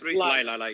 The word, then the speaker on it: Leila: It's Lila, yeah, guys, please, Lila.